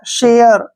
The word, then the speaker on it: share: SHARE, ए के बाद फिर से RE आ गया, शेयर, ऐसे।